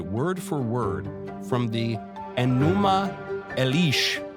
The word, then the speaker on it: Enuma Elish: I'm probably mispronouncing that, but but this notion that the the Genesis story is totally uh derivative, even a copy from a pagan tradition. And so, you know, there's no reason to really give it any credence in a particularly Christian way. Yeah. Well, you didn't mispronounce it, so um you're not